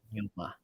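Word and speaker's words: Danjuma: I think that's how we pronounce his name, right? Yeah, Arnold that's right. Denuma.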